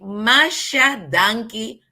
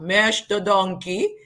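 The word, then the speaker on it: masha danki: In Papiamento, we say Masha Donkey and not Mesh the Donkey.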